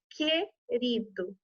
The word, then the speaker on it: querido: da visão como por exemplo aqui na palavra querido tá ouvindo aí no que alcançam deo não